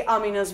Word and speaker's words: Amina: But in my head, she's Amina and I can't switch. And that's the Pakistani way of pronouncing it.